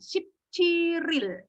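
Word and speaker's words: 십칠일: Ship, cil, il. Bacanya adalah ship, ciril. Disambung ya.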